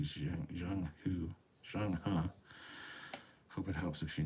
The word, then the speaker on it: Zheng He: It is Chinese. The closest pronunciation to English would be Zhang Hu.